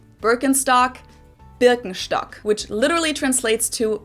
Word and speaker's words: Birkenstock: the world nowadays, and it's natural that people pronounce it with their native accent, so English speakers usually say Birkenstock. In German we say Birkenstock. Birkenstock, Birkenstock, which literally translates to birch stick.